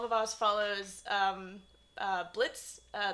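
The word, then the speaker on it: Blitzø: boss follows um uh Blitz uh the O is silent um who is the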